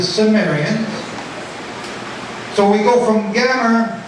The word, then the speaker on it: Cimmerians: And it becomes the Cimmerians, which I pronounce with a soft C as the Cimmerians.